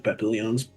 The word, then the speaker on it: papillon: I forgot about the papillons.